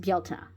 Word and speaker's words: Bealtaine: It's just I wish people were more aware that it is pronounced Bealtaine.